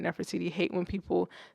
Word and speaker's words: Nefertiti: Tyrone says, can I just say how happy I am you pronounced it right, Nefertiti?